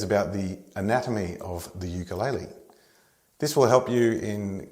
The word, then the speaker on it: ukulele: is Hawaii or more correctly Hawaii and it's pronounced ukulele or shortened to Guk let's name the parts